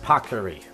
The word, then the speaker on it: paccheri: It's pronounced paccheri.